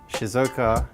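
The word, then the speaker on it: Shizuoka: journey on the very very fast train from Shizuka Shizuka Shizuka Shizuka so I said it right first time yeah Shizuka to Kyoto and it took us about an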